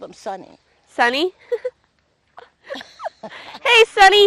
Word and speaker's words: Sonny: Well, yes, they always called him Sonny. Sonny? Hey, Sonny. It rhymes with honey, you know. Sonny and honey.